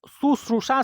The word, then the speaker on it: शुश्रूषा: दोस्तों, श, तालव्य श, दंत स, मूर्धन्य श, इन सब के उच्चारण में अंतर होता है। तो शुश्रूषा शब्द गलत है।